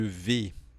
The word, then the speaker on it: vais: Você pode falar um pouco mais fechado também. Je vais.